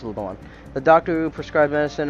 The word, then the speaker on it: Leblanc: at the Blanc yesterday Leblanc it's pronounced Levon the doctor who prescribed